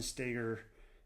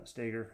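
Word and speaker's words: Stoeger: Um, he being Ben uh Stagger. I think it's Stagger. Um, it's spelled like Stoer the Shotgun, but I think he calls it Stagger.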